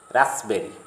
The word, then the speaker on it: raspberry: Again, sometimes P is silent in the middle of the word, as in the following words: receipt, coup, cupboard, raspberry.